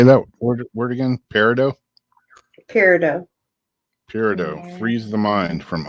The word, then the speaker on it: peridot: Peridot.